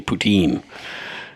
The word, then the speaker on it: poutine: notes and Kyla pronounced Putin correct L as there these folks are fellow Canadians I happen to be a lazy fellow Canadian who just pronounce it the English way poutine and that brings us